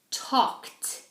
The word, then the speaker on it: talked: So, you pronounce these endings, these ed endings, like a t.